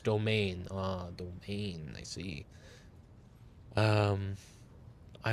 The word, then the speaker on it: demesne: Demol? I'm imagining that means, like, accommodation, you know, like their section, pronounced domain.